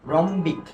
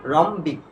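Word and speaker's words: rhombic: এরপরে দেখো এই যে আর এর পরে রেইজ আছে, কি আছে? এইচ আছে, তাহলে দেখো এই এইচ এর উচ্চারণ হবে না, তাহলে এটা হবে কি বলতো? রম্বিক। কি হবে? রম্বিক।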